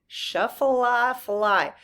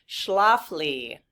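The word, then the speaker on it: Schlafly: Oh, Shaflafly.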